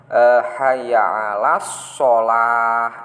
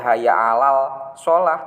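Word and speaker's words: حي على الصلاة: Kayak hayya 'alas sholah. Itu kan ada as-sholah alif lam shad, aslinya seperti itu. Tapi bacanya tidak hayya 'alal sholah tapi hayya 'alas sholah. Jadi lamnya tidak muncul.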